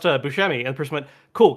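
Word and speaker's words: Buscemi: connected to uh Steve Busmi's room, please?" He's like, "Oh, just so you know, it actually is pronounced Bushmi."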